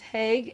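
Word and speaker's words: HIAG: continuation of their team is pronounced hague h-i-a-g you could reverse it hague but that's the connecting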